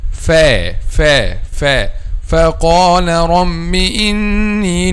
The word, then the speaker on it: ف: So, letter fa. When we pronounce letter fa, the back of the tongue is not raised.